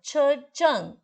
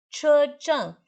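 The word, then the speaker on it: 车站: Chejang. Che é C-H-E. C-H-E.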